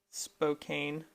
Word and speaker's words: Spokane: I was going to be going there for Spokane. training. It's Spokane. There will be a poll on the podcast, so you can choose if it's pronounced Spokane or Spokane.